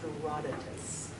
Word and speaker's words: Herodotus: can you can't sound it out the Greek pronunciation is Herodotus okay so according to this guy however like